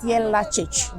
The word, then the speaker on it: Jelačić: So his surname is pronounced Jelačić, Joseph Jelačić, yeah.